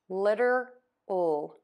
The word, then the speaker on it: literal: Yes, that D is very, very fast in this situation. Litter, litter, litter. So now that you know that, you can tackle this word by just adding the L. Literal, literal, literal, literal.